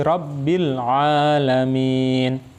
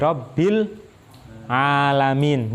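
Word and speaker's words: رَبِّ الْعَالَمِينَ: Nah, hati-hati ketika Rabbil. Nah, kalau kita tidak hati-hati, tidak tepat, nanti ada tambahan suara e-nya. Jadi bacanya bukan Alhamdulillahi Rabbil Alamin, tapi Alhamdulillahi Rabbil Alamin. E-nya. Nah, kalau kita nggak sadar, nah ada e-nya. Nah, yang betul Alhamdulillahi Rabbil Alamin. Jangan sampai ada e-nya.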